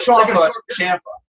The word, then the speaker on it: Ciampa: That's gonna happen when Ciampa comes back. Yeah, not Ciampa, Ciampa. It's like Tampa.